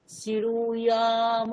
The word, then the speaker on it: শৃণুয়াম: শ্রী, এই যে তালব্যস্বয় রিকার রয়েছে, এটাকে ওটা কি রু বলবো? বলবেন, শ্রু। শ্রু। বলুন। শ্রু বললেন তো, শ্রু।